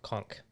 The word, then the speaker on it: conch: a 25 gallon mixed reef also conch is pronounced conch ah there you go i have probably butchered